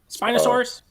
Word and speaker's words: Spinosaurus: the scene with um the Spinosa Spino Spinosaurus how you say it uh the Spinosaurus.